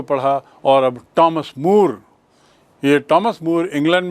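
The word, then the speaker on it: Thomas: इसे थॉमस मोरनी कहते टी ह ओ एम एस का उच्चारण होता है टॉमस टॉमस मोर यह भी 15वीं शताब्दी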